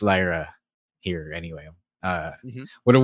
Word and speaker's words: Lyra: I just say I I need people to pronounce Lyra valkiria correctly I can't believe n Shaker and Cass keep calling her lra uh yeah EO has